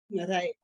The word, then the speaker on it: Marije: Now, Marije, how's it pronounced? Marije.